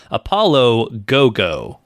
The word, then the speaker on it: Apollo 55: It's written as Apollo 55, but apparently it is pronounced Apollo Go-Go, which go is Japanese for 5, which if we were still numbering our episodes, as a fun fact, this would be episode 55.